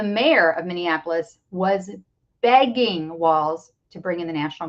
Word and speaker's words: Walz: Walls w LZ but pronounced walls as in walls in your house uh let's talk about